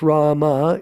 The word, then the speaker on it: Ram: Ram, pronounced Rama, is the incarnation of Vishnu as the prince of responsibility.